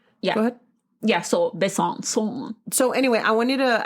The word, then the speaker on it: Besançon: Well, people in the news say Besançon, but when I pull up like a French pronunciation, Besançon, France. That sounds like tienes como 20 años que you don't blow your nose.